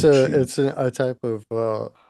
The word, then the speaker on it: mochi: I don't know how to pronounce that. Mochi. Uh, It's mochi.